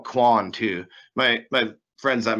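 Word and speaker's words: Qwoin: that is qw oin so that's how you pronounce that everybody's always curious you can call Kwan to my my friends that make fun of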